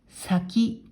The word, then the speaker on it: 先: これは音読みで線、訓読みで先と読みます。